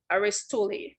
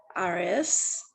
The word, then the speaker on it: Aristotle: Aristotle, not Aristole. Please don't pronounce these wrong. Aristotle, right? That's how you pronounce this, Aristotle's theory.